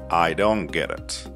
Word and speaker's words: I don't get it: We don't pronounce T here. I don't get it.